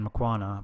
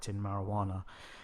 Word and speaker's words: Makwana: my name was mispronounced my name's mcquanna but i was pronounced marijuana yeah believe me it's